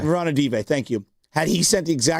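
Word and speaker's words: Ranadivé: How do I pronounce it? Rondé Barber? No, Vivek. Oh, Vivek Ranadive. Ranadive, thank you.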